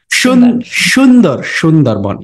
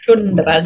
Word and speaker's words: Sundarban: I said Sundarban, but I think you pronounce it or do you say Sundarban, yeah. Sundarban. So it's like an SH.